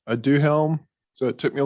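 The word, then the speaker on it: Aduhelm: some of this about this drug is pronounced i do helm so it took me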